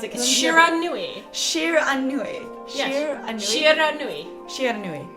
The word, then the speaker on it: Shiranui: you're gonna have to tell me how to pronounce it. Shiranui.